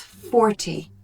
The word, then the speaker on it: forty: So 14, the stress is on the second syllable, whereas 40, the stress is on the first syllable.